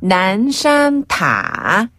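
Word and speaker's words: 南山: 난산타. 말 그대로 남산타워거든요. 난인가요? 남인가요? 난. 네. 니은 받침. 난말이지 할 때 그 난. 난산타.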